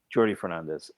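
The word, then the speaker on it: Jordi Fernández: Uh, I think it's Jordy. Oh, no. It's Jordy. It's Jordy. It's Jordy. It's uh Catalan, not Spanish. The J is pronounced Jordy Fernandez.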